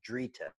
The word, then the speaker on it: Drita: is from a variety called Drita it rhymes with Rita but it's called Drita a dri TTA I believe but it's